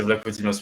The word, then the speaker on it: Vlachodimos: Enfin, une belle confrontation en dehors de ça, le gardien de Benfica, dont je n'arrive jamais à prononcer le nom. Vlachodimos. Oui, c'est ça, c'est Vlachodimos, mais ça m'échappe toujours.